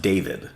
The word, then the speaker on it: D4VD: And it's pronounced David. Yeah. But it's written D4VD.